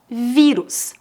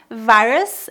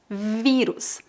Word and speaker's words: vírus: primeira palavra é vírus com acento agudo na letra i vírus por isso devemos pronunciar corona vírus em português não é várias é vírus vírus é um organismo